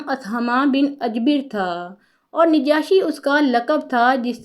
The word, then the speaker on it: نجاشی: بن اجبر تھا اور نجاشی اس کا لقب تھا، جس طرح روم اور ایران کے حکمران کیسر و کسریٰ کہلاتے تھے۔ افریقی زبان میں نجاشی کا تلفظ نجوس ہے اور اس کا معنی